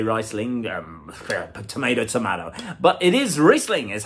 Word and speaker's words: Riesling: A lot of people think Riesling, some say Riesling, tomato, but it is Riesling is how it's pronounced.